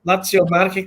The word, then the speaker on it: Lazio Marche: Is it the Lazio Marche Club? Is that how you pronounce it? Lazio Marche? That's right. Yep. Lazio Marche Club.